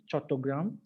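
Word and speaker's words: Chattogram: chittagong or chatter ground actually it's originally the name is chatogram and it's just when the british rule this and this joint they can't pronounce the program they give the name chitagong so it became nameless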